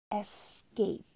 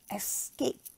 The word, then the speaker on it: escape: Escape. Especially. Remember to pronounce the S and not X, but S. Escape.